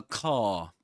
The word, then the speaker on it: car: He doesn't pronounce the letter or the sound r at the end, does he? Because in his accent, in Southern Standard British English, we don't pronounce the letter r or the sound r when right before silence.